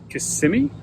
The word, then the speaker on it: Kissimmee: Hey comic fans, it's Jimmy the Geek Aficionado, and I am on location in Florida, just outside Orlando in Kissimmee, I believe is how it's pronounced.